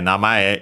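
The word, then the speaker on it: 名前: given name but yeah namay is the one you mostly used for name especially the given name the first name also an accent by the way namay uh and then after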